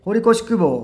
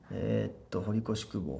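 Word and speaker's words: 堀越公方: ね、まあ、これ、堀越って読むんですけど、僕はもう堀越っていう。濁らんやないですか。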